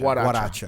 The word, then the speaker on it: Guaracha: goracha, but it's pronounced Guaracha. Guaracha. Like with a W.